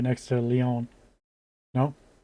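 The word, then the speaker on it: León: And I gather that the real pronunciation's very close to the English name Leon. I mean, or at least how the English would pronounce the name Leon.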